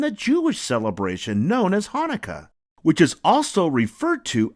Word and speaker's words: Hanukkah: in the word but no matter how you spell it it's always pronounced the same way Hanukkah say it with me ha na Ka Hanukkah and it's always celebrated